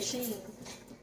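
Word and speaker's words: Shein: you pronounce it, and she said it's actually like it's spelled Sheen. And people been calling me Sheen, that I knew it wasn't Sheen, but well, hey, it ain't my place to correct nobody.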